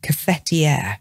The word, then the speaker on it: cafetière: t i e with an accent r e catier so a cfer its job is to keep